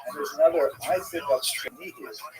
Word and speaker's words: Chernihiv: And there's another, Isaac of Chernihiv. Sometimes this is Isaac of Chernigov, that the Russian pronunciation of the same place.